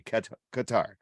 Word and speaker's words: Qatar: Qatar it's so a lot of people say cutter and a lot of people say Qatar it's actually Qatar all right um so the controversy is going